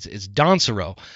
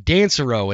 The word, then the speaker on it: Donsero: It's actually Donsero. But I was thinking Dansero and Dan, and so Dan popped